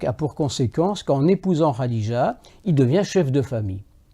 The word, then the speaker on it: Khadija: au service d'une veuve, Khadija. Les musulmans prononceraient ça bien mieux que moi en disant Khadija.